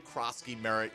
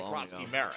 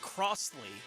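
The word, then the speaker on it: Croskey-Merritt: Oh, they did just because nobody wanted to call him Ja'Cory Krosky-Merritt. Like, I still see people who call it Crossley or Crosty. Like, they still are getting the last name wrong.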